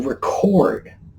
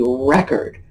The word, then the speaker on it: record: and started writing to record events that's the verb accent on the second syllable creating a record accent on the first